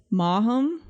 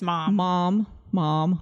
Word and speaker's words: Maugham: Is it really two syllables? Maugham? I think it's mom.